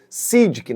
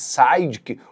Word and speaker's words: Sygic: O SIDK, só pra gente contar brevemente, é um aplicativo de navegação eslovacco e é assim mesmo que se pronuncia, viu? Sidic, nada de Sidic ou algo do outro tipo.